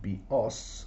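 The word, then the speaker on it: βιός: Bios with the accent on the iota, I think means life, and bios with the accent on the last syllable means a bow, as in like a bow and arrow.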